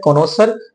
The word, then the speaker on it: connoisseur: English में उसको कहते हैं कॉनोसर। स्पेलिंग याद कर लो, अच्छी स्पेलिंग है।